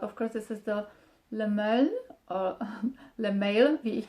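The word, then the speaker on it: Le Male: course this is the Le Mail, or Le Mail, wie ich das nenne. Of course it's not a right pronunciation, because it's supposed to be pronounced French, like male, I would say.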